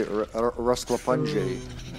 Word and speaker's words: Rasklapanje: I like how they say it. They say Rasklapanje.